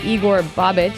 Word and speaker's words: Igor Bobic: We actually are joined now by Igor Bobic.